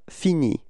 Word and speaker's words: finis: get the form je finis. Repeat. Je finis. Okay, so you see that this verb is ending with a S, but then you don't pronounce it.